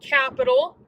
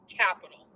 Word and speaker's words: Qapital: you about this app it's called capital and it's spelled with a queue so melissa and i always joke around and we call it quacker but it's said capital so it's q a